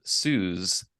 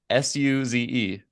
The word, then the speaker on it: Suze: Is it Suze? Okay, got it. I was thinking like almost like sous, like French, like sous vide.